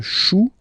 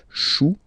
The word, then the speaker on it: chou: Then, un chou, okay, remember, when you combine this C and H, you get the sound sh. Chou, un chou, pluriel, des choux.